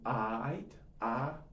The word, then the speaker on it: aight: The pronunciation is a little tricky. It's more of an "o." "You aight?"